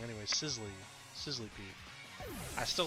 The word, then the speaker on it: Sizzlipede: Sizzlepede.